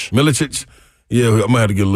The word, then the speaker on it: Milicic: Milicic.